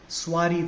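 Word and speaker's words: soirée: is perfectly all right s-o-i-r-e-e suari that's how it is pronounced swari means an evening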